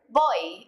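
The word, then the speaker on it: voy: bit on the pronunciation in Spanish v's and B's sounds a lot alike and they're pretty much just a mixture of the two letters boy repeat they boy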